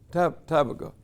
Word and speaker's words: Tabgha: Tabgha? Tabgha.